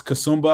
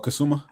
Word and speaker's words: Kasumba: Wait, how do you pronounce her name, James? Florence Kasumba, I believe. Okay. Or Kasuma.